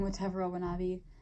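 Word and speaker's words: Watevra Wa'Nabi: you say it but it's supposed to be like a sleeve of different for a different version of the words whatever I want to be whatever I want to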